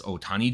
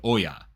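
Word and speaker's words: Ōya: prefecture by the way you sometimes see Oya jinkichi's name written as Otani jinkichi that's just a different pronunciation of the same character for consistency I'm gonna say Oya toltori today is on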